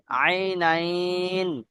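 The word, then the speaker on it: عينين: হ্যাঁ, আইনাইন। এটাকে কি করেন তো, উচ্চারণ করেন তো। হামজা, আই আইন, ইয়া জবর আই, নুন, ইয়া, নুন জবর নাইন, এরকম উচ্চারণ হবে, ঠিক আছে জি।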